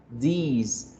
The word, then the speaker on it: these: This, that, these, those. Las dos primeras se mencionan o se pronuncian de forma corta. This, that. Y las dos de abajo se mencionan de forma larga.